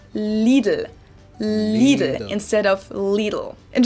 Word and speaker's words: Lidl: Most Americans I know say something like Lidl, while the correct German pronunciation is Lidl. It might be a little hard to say, but I think it helps to know that both of the L sounds are light L's that you pronounce with the top of your tongue.